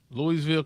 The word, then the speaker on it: Louisville: It's Louisville. Louisville. It is Louisville? What I said? Louisville? Louisville. Oh, that's what it look like, Louisville. Well, they don't say it like that in Louisville.